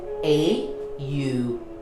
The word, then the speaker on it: Om: And the Om mantra represents the cycle of life. So the Om mantra, it's not O-M. It's actually 3 syllables. A-U-M.